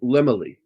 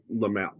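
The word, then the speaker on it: Laemmle: They call him Lemley. And when I was a kid, I was told it's pronounced Lamel.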